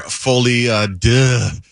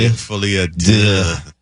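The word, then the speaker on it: Folie à Deux: Tonight we're going to talk about Joker Folie de. That's the French pronunciation. Folie de.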